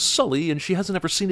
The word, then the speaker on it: Sully: still called native americans why does she pronounce his name as sooly when she just heard him say it was sully and she hasn't ever